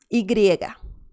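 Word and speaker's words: y griega: get this over with igriega igriega that's the name of this one and the sound is ya ya ya so this is similar to the y in english but some people also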